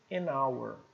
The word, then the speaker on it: hour: RR no inglês mas às vezes ela é muda como em hora hour então que vai valer vai ser próxima letra que não é muda né que não é neutra então som de o aqui vai ser som de vogal então é hora bom nós temos casos